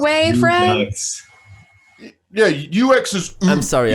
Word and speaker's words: Redux: Team has rebuilt its award-winning cyberpunk thriller Observer with augmented visuals, gameplay, and story as Observer system redo for the Redux.